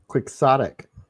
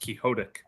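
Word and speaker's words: quixotic: Another uh, quicksodic. Quicksotic. Yeah, I like that one. It always bugged me that it wasn't pronounced kiodic.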